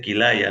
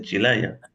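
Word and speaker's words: kīlaya: le dijo Disculpe pero la pronunciación no es barra Chila sio es barra kilaya se dice kilaya no se dice Chila Entonces el Yogi dijo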